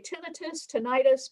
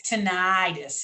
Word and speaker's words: tinnitus: And by the way, tinnitus, both ways are considered as correct pronunciations. It's tinnitus here in the South. Tinnitus in the South, and tinnitus, I guess, in the Northeast.